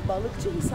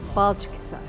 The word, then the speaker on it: Balçıkhisar: Balıkçıhisar mı, Balçık mı? Balçıkhisar.